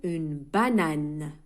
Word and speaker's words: banane: عندما ننطق نقول une banane. الأو دائما في آخر الكلمات في اللغة الفرنسية لا ينطق. une banane. une.